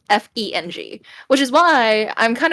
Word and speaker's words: Feng: Well, if you say it in, I guess, how you would as a Chinese person, it would be pronounced Feng, which is, I guess, if you spell that in English, it might be Fung.